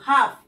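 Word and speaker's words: half: silent আছে এই এফ হাফ এলটা আমরা উচ্চারণ করছি না সি এফ কাফ এলটা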